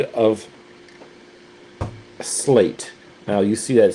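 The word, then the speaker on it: Sleat: Sound of slate is how how I'm hearing it pronounced from the people at Choreog.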